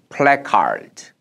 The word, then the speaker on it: placard: 환한 시민들이 풋다운 there placard 우리 흔히 플랜 하는데 영어는 플래카드 a가 a 발음이 나죠 푸드 놓는 거죠 아래로